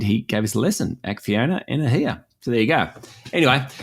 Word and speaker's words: Acciona Energia: And he gave us a lesson, Acciona Energia.